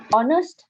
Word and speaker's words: honest: So honest එකේ H is silent, right? H is silent. ඒතර අපි ඒක කියවන්නේ honest නේ.